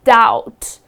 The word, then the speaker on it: doubt: You do not pronounce the letter B.